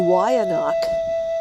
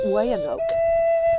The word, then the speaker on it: Weyanoke: The Weyanoc, and that's how you pronounce it, not Weyanoke.